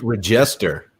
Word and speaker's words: register: It's Register. It's Register. You put the wrong emphasis on the emphasis on the wrong syllable.